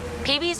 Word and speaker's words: Peebee: Your name rhymes with sightsee, gutsy. Peebee's already a nickname.